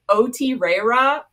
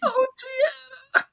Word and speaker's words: Otrera: So there was this reel that was talking about her but pronounced it Otrera. I'm like, thanks, I hate it, we won't be doing that, please. Otrera.